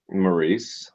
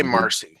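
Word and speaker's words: Maryse: Is Marcy Maurice? How do you say her fucking name? Maurice. Maurice, and I say Marcy.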